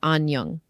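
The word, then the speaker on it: 안녕하세요: The first part sounds like anong with the sound at the end.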